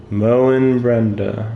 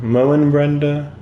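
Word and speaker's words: Moenbryda: like mo mo Brenda Mo Brenda makes sense too like I know m o a n sounds about the same but I mean welcome welcome to the English language it's just not how you say it you just don't say moon when you put m o e n moon what why would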